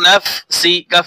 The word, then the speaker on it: نفسك: scene জের সি, ফামিন নাফসি, calf জবর কা, ফামিন নাফসিকা, কা উচ্চারণ হবে না যখন ওয়াকফ করব, ফামিন নাফসিক, সিক, وما أصابك من سيئة